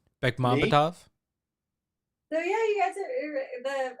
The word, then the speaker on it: Bekmambetov: Bekmambetov. So yeah, you guys are I did like pronunciation, and that's Beck Mom Bet of. So very close.